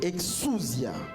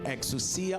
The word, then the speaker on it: exousia: exousia. It's a Greek word, exousia or exousia, depending on which pronunciation you are taking it from.